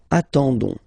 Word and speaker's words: attendons: ending for nous, so O-N-S, okay, you don't pronounce the S, so you get only this on sound, okay, attendons, nous attendons, so we'll